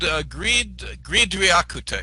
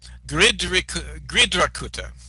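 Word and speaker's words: Gṛdhrakūṭa: I said Gridriakutta. It's Gridrakutta. That's how it's pronounced. Sorry about that. Mount Gridrakutta.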